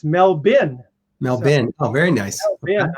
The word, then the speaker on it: Melbourne: Yvonne from Melbourne, Australia. Eric, when I went to Australia the first time, which was like 30 years ago, I walked in there and I said, oh, I'm in Melbourne.